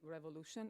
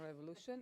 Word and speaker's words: Révolution: about Revolution so please Revolution is not Revolution is Revolution um and technology and